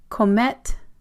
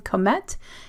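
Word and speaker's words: Comète: The Plan Comet. It's a zine event happening in Brussels on April 28th. Plan Comet. It's C-O-M-E-T-E. There is an emphasis on the first E.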